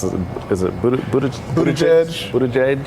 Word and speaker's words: Buttigieg: I can't pronounce it. Is it Buttigieg? Buttigieg.